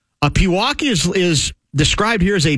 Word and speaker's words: Pewaukee: He's saying that I would have known that it's pronounced Pewaukee. Can you spell it? It's P. How is Pewaukee spelled?